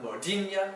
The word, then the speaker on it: modinha: You have modinha, which is a Portuguese art song, and ainu, a tropical disease. All of these have the nha sound spelled with an nh.